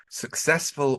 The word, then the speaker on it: successful: Successful we've had in other podcasts, but be careful because it's a very, very high frequency word. Successful. And clearly the stress is on the second syllable there.